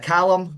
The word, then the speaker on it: Calum: It's Callum, but it is Callum. Okay. It's been mispronounced much worse than that in the past, so I wouldn't worry too much.